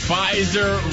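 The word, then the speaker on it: Pfizer: theer the fer family fiser rhymes with Kaiser so they must be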